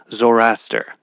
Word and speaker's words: Zoroaster: read um about it the way it's pronounced is you kind of roll off that second o instead of saying zoroaster it's it's more like zoraster that I always in